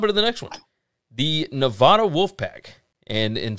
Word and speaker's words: Nevada: The Nevada Wolfpack. And some people say that you pronounce this Nevada, but we live in Mississippi, so we're going to say Nevada.